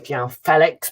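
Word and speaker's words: João Félix: João Felix, of course, you know, made it clear that we are pronouncing his name wrong and it's João Felix, but obviously I'm not going to remember that.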